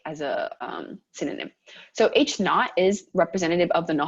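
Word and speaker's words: H₀: it's a zero okay so that zero is pronounced not like without okay as a um synonym so h naught is representative of the null hypothesis so we'll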